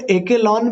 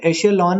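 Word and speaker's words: echelon: कुछ लोग इसे एकेलॉन भी कहते हैं, लेकिन इसका प्रोनाउंसिएशन एशेलॉन ही है।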